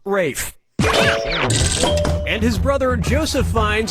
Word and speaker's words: Ralph: Ralph has to Ralph, Reef has to Ralph, Rolf has to Ralph, or Rafe has to Ralph? Yep, Rafe Fiennes' first name is spelled like Ralph, but pronounced Rafe.